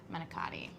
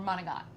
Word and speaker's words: manicotti: And with a starter of manicotti. Or manigot, if you were from Staten Manicotti, Island. Yeah. No, they mispronounce Italian words and pretend it's how you say them.